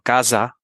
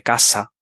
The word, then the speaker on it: casa: tener un alumno que pronuncie por ejemplo casa en lugar de casa típico sí e Pues eso explicarles bien que que la s simple es como si fuese una doble una doble s en en francés no